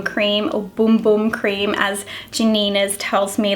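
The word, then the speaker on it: Bum Bum: the pre shampoo mask to this little brazilian bom bom cream of boom boom cream as janina's tells me that it's pronounced she just my Sephora go with letting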